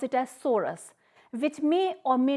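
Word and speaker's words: sorus: psori in singular we can say it or pronounce it as Soros which may or may not be covered by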